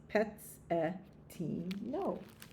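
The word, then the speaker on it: Pezzettino: Pezzetino in Italian means little piece. It is pronounced Pezzetino.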